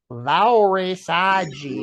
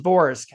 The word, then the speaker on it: VORSG: Crowley says it's Vauresagi. Right. Right. Okay, VORSG. It's pronounced Vorsk.